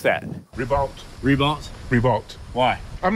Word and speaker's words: Ribault: But a school district spokeswoman told me the principal is adamant it's Ree-beau.